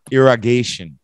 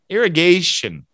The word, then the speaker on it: irrigation: it's pronounced irrigate era irrigation irrigation so let's say that one first and then I'll explain it irrigation Gabby organizations irrigation yeah and the stress is on gation irrigation Tracy irrigation era